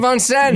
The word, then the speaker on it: Vincennes: There was this like you little, stayed in Vincennes.